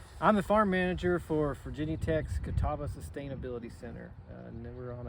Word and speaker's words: Catawba: to spell the name of this town right pronounced is Kataba Kataba that's right yeah Kataba we did an all